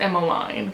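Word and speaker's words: Emmaline: Because I was spoiled on the book and I knew that Emmeline, her name's pronounced Emmeline, but whatever, I'm gonna call her Emma.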